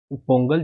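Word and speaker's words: Pongala: देखिए इसी के जैसे होता है अटुकल पोंगल। आपने पोंगल सुना होगा बट इसका एग्जैक्टली प्रोनाउंसिएशन होता है पोंगला। ठीक है? पोंगला कहा जाता है इसको।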